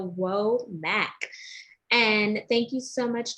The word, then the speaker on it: Womack: mac y'all is spelled w as woman os and open m as in mary a asn apple c as in charlie and k as in kangaroo so whoa mac and thank you so